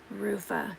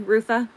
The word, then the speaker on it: Rutha: Rufa, is that is it pronounced Rufa? Is that right? Rutha.